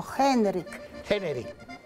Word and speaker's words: Henryk: Se pronuncia Henryk. H al comienzo. Henryk.